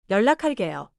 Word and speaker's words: 연락할게요: 연락할게요.